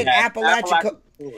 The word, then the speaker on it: Apalachicola: Yeah, Apalachicola.